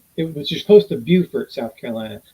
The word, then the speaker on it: Beaufort: And it was just close to Beaufort, South Carolina. Not to be confused with Beaufort, North Carolina, which is spelled exactly the same, pronounced differently.